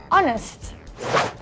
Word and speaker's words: honest: lot of and plenty use and before words that start with the silent h these are nouns like our and air and the adjective honest so we say an hour an air and an honest person do not use an